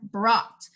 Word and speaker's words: brought: Daughter is GH, and then brought, silent letter or silent consonants would also be GH for here.